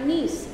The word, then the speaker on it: Nice: হ্যাঁ, নিস মানে নাইস বলে যেটাকে, সেটাকে নিস আসলে প্রোনাউন্সিয়েশন, মানে এমনিতে নয়, এমনিতে নাইস, কিন্তু ফ্রেঞ্চ জায়গাটার নাম নিস।